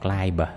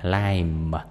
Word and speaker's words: climb: Climb, climb là leo, nhớ nha, cái chữ bờ này nó câm ha, đừng có đọc climb mà lime, lime.